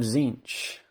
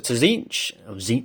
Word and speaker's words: Tzeentch: Discs of Tzeentch, sorry. Don't pronounce the T, do you?